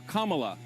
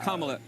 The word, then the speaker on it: Kamala: Her name is pronounced comma, like the punctuation mark la, Kamala. Okay? Seriously, I've heard every sort of bastardization. So what? That's how it is, Kamala.